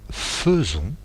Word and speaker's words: faisons: Et enfin le verbe faire, un peu spécial, je fais S, tu fais S, il fait T, nous faisons, alors que ça s'écrit faisons, vous faites et non pas faisez, et ils font ONT.